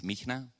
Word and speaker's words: Mihnea: My name is Michna. That's very hard to pronounce.